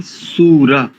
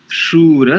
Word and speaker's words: शूर: स्वस्त अच्छा उच्चारण है सबसे पहली त्रुटि आपकी सूर ऐसा नहीं शूर साता य शब्द शर